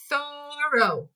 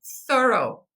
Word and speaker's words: thorough: O GH, continuamos ignorando, né? Thorough, thorough, completo, ou algo que é complete.